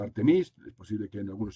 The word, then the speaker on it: Artemis: a cabo el programa artemisa en inglés se pronuncia al tenis es posible que en algunos sitios lo digan como al tenis bien me gusta decirlo en castellano programa artemisa